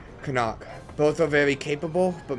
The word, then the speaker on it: Karnak: Karnak. So, yes, but wrong stress. Karnak.